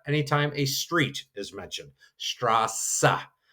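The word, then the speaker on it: Straße: Straa, it's just kind of that extra sassa.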